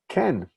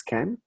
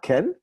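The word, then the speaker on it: כן: But there it is, Ken. Again, it's not Ken, K-E-N, like Ken and Barbie, and it's not cane, like cane sugar, but somewhere in between.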